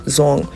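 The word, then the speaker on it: Duong: And the one that I chose is like the northern Vietnam pronunciation of it.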